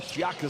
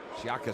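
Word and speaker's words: Shyaka: And the jump shot from Shiaka 6, no good, but the follow and the dunk from Kaje and Rwanda have arrived.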